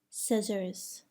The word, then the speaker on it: scissors: Do not pronounce the C in the following words: indict, muscle, scene, scent, scissors.